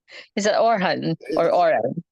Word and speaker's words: Orhan: he's checking hello okay perfect or am I pronouncing your name name correctly is it orhan or or it's it's perfect it's perfect okay